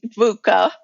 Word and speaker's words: VUCA: Michelle um and and you said it right vuca right so sometimes people even stumble over you